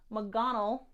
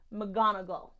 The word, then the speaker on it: McGonagall: know that last time I was pronouncing McDonald when I'm should have been saying McGonagall so I printed off